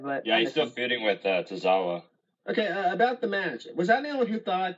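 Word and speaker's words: Tozawa: now and you know I forget there's uh tazawa I know how to pronounce his name Akira tazawa yeah Akira tazawa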